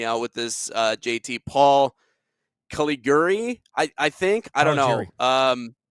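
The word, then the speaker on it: Caligiuri: Paul Caligari, I think. I don't know. Caligari, thank you very much.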